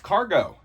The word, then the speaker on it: Kargo: and support check out cargo cargo out of Colorado cargo with a k and a long o Colorado with a c